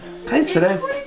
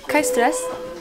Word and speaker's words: kein Stress: Kein Stress. Kein Stress.